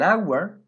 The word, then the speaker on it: hour: it took me an hour to get home we say an hour because H is a silent letter now let's look at